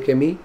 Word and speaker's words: Camus: recomiendo el extranjero de que me se escribe camus se pronuncia que me y le recomiendo el